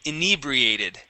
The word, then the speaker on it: inebriated: in inebriated good yeah with the accent on that e inebriated inebriated okay good and